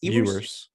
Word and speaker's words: Ewers: Quinn Ewers or Ewers, how is it pronounced? Ewers.